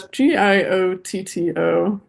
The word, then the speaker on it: Giotto: Yeah, it's Giotto. Giotto or whatever. Yeah, I'm G sure it's pronounced a little differently.